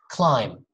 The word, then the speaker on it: climb: see m b together when you see those together do not pronounce the okay just say climb bomb num you know that song